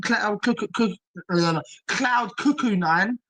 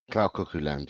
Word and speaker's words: Cloud Cuckoo Land: I know it sounds silly saying all this now, but I've been on Cloud Cuckoo 9. Is that how you say it? Cloud Cuckoo 9? Cloud Cuckoo Land, yeah.